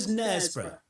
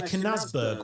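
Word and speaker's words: Knaresborough: not Todd Morton, and Nesbra. Yeah, no, I didn't think people mispronounced Nesbra either, but apparently one commenter said that someone had asked where Canazberg was.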